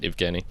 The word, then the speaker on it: Evgeny: Kenny evgeny no it's it's spelled Eugene oh I gotcha but they say it evgeny anyway he uh a